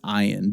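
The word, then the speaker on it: עין: Next is ayin, the other silent letter, which does make a very guttural sound that I can't do.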